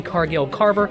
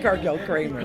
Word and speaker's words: Cargill-Cramer: again, here with Holly Cargill-Carver. She is not Kathy. I am not Bob. And it's Cargill-Cramer. Cargill-Cramer. Oh, my goodness gracious. I've been saying her name wrong, and you were nice enough to never correct me.